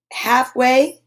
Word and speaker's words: halfway: could be very tricky you've got the l in halfway that's silent palm folks folks is